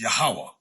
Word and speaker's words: Yahweh: indication of being the Yahweh of the Old Testament I was taught that pronunciation is yahuwah but we know is